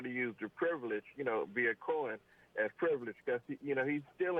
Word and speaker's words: Cohen: Yeah, the interesting thing, by the way, about Cohen is last night I tuned into Hannity's program to see what he had to say, and he referred to him as Michael Cohen, one syllable.